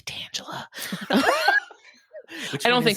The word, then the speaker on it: Tangela: to say the name Tangela out loud because I'm pretty sure the Pokemon's name is pronounced Tangela, but I have met in real life a woman named Tangela, Huh.